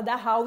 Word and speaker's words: Dachau: Se escreve Dachau, mas se fala Dachau em alemão, tá?